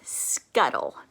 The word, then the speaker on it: scuttle: Now, this word has an L-E at the end. When a word ends in L-E, the E is usually silent. So, this is a two-syllable word.